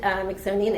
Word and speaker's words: Mixonian: So I founded Mixonian Institute. Mixonian rhymes with Smithsonian.